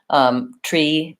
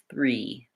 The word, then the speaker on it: three: three three three so what I suggest for these words that have the thr sound is that you try first to say the word with just the R sound get your back American already and try read and then once re is comfortable try adding the th three and notice how slowly I went three three I moved from the